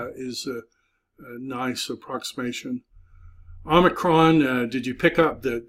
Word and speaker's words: Omicron: X is nice approximation Omicron did you pick up that the name of that is little o Omicron like pot very close to an alpha in pronunciation but it's a short o sound PI P is n